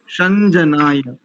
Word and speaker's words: शं जनाय: केवल यहाँ पर होगा, इसके बाद गवे के बाद संजनाय, ऐसा। और दूसरी पंक्ति में देखेंगे तो शनराजन शनराजन, ऐसा उच्चारण।